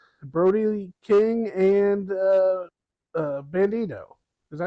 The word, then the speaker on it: Bandido: Number five, Brody Brody King and uh uh Bandido. Is that how you say his name? Bandido? Yes. Bandido.